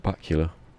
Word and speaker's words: Bakula: I watched a bit of Enterprise, because Scott Bakula rhymes with Dracula, so I know his name.